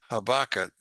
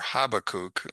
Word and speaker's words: Habakkuk: Now, as the prophet Habakkuk, or Habakkuk, which is the way it should be pronounced, Habakkuk, says in 2:14, "For